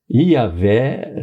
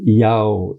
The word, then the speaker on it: Yahvé: é parte do nome de Deus, mas não é correto pronunciar o nome Yahvé só i, né? Ia e a isso está errado.